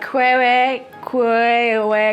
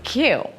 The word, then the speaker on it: queue: Okay, it's not quewe, kaye. It's not that. The word is queue.